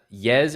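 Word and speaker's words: Yağız: We always say Yagiz, and we just learned it today. What is the pronunciation now, Ahmad? Yez Erdomush. Yes, yes. So Yez. it's Y-E-Z.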